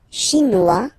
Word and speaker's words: chinois: La Chine, chinois. So it's really this wah wah wah sound, remember? Chinois.